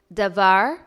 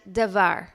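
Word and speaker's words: דבר: words for this week the first two words are pronounced exactly the same davar and davar the first one however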